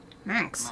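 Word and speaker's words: Manx: it's slightly different Max so like man with an x on the end instead of I've always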